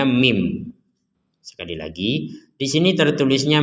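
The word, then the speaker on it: مِن: Ada nun sukun bertemu ba, maka kita membaca min ini, min ya, dibacanya mim.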